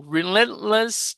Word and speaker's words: relentless: with a Relentless o Relentless touring schedule I just want to make sure I'm stressing the right syllable here relent Relentless Relentless Relentless with no rest no breaks Relentless MH yes Relentless that's right a nonstop T schedule